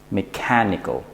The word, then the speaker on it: mechanical: last two are Nico you don't want to put the stress there we want to put the stress on the syllable before that mechanical okay now the last